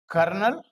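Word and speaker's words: colonel: Plummer बोल करके जरूर देखिएगा प्लमर बोलिए प्लमर कर्नल स्पेलिंग होती है सीओ एल ओ एनल लेकिन बोलते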